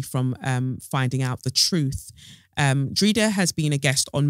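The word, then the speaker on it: Dreda: Drida's parents are from the beautiful Caribbean island of Grenada. Her name Drida is Irish and pronounced with a long vowel E sound in the middle, which is what I've been doing anyway.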